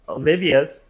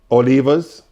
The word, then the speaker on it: Oliva: father's EPs, Olivia's. Olivas. Oh, it's not Olivia. It's Olivia. It's Oliva. How you say it? Oliva. Oh, there's no IA. It's just Oliva.